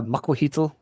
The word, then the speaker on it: Macuahuitl: Macuahuitl, Obsidian Mali.